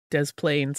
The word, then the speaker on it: Des Plaines: We say both S sounds, so it's des plaines, I guess.